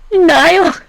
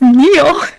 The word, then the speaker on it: Neil: Nile? It's Neil.